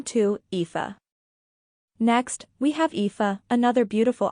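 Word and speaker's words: Niamh: simpler than it looks pronounce it NE it's like leave but with an h a DOT name nine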